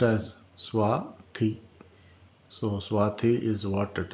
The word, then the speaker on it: Swathi: So it's pronounced as Swathi.